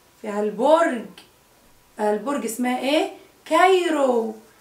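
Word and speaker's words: Cairo: كايرو. كايرو سي اتنطقت ايه؟ كي صح؟ عشان ما وراهاش ايه؟ برافو عليكم. ما وراهاش ولا اي ولا اي ولا واي فنطقناها كي.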